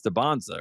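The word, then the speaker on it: Dybantsa: before, I was like, "What is it, AJ Debansza or is it AJ Debansa?" and he was like, "It's Dansza, right?"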